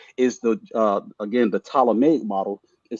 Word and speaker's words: Ptolemaic: of me because with the p is silent so PT right ptolemaic uh the ptolemaic model